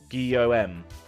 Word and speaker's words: Guillaume: you should be fine it's pronounced like Guillaume geom I see right that's